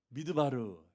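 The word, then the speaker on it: מִדְבָּר: 광야도 히브리 말로 미드바르, 똑같죠? 다바르. 앞에 밑자만 붙은 거예요. 다바르, 미드바르. 이게 다자가 중간에 들어가면 드자로 바뀌어요. 발음이. 그래서 사실은 그 자음 철자는 똑같아요.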